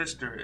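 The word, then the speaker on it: Pfister: The Fister is Porsche, and that's how you pronounce it.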